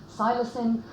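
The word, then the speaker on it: psilocin: converted into silicon now some people call it silacin i think it's just a pronunciation thing i call it silicon and what it does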